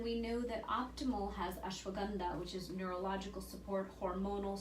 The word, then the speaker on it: ashwagandha: People pronounce it ashwagandha. It's one of my favorite. You say it so much better. I just say it the more Indian way.